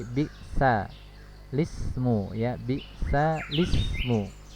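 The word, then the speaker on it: بئس الاسم: Lam tadinya sukun, dikasih harokat kasroh miliknya si hamzah yang tadi ya, sehingga bukan biksal tapi biksa lismu ya, biksa lismu membacanya ya, bukan biksal ismu tapi biksa lismu.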